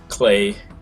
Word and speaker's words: Klei: so figure Klei rhymes with play helps.